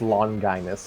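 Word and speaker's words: Longinus: read it pronounce it it's pronounced long guinness mind you the most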